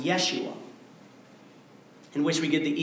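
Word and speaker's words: ישוע: or deliver or save in Hebrew it's pronounced Yeshua in which we get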